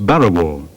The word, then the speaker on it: prau: The usual name given to a boat like this is prau. Aborigines in eastern Arnhem Land pronounce this word as Burrawa.